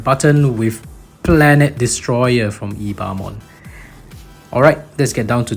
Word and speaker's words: Ebemon: And yes, even though it's spelled E-B-E-M-O-N, it is pronounced Ebemon.